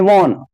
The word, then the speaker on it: wan: वॉन, WAN, उसको वॉन पढ़ते, इसकी प्रोनाउंसिएशन है वॉन, यानी कलरलेस।